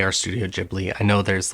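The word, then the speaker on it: Ghibli: me how to pronounce this um correctly I pronounce it studio jibli with a soft H um but Studio gibli maybe if that's how you want to pronounce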